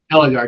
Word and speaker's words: Ellegard: Is that how you pronounce it? Ellegard, yep.